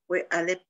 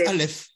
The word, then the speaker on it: Alep: Alep. On dit Alep, mais ça se prononce Aleph.